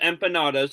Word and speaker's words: empanadas: The first time I saw them, my mom had to tell me they're not empanadas because I thought it was pronounced similar to how Canada's pronounced. But they're pronounced empanadas, and they're basically little fried pillows with meat inside, and they taste very good.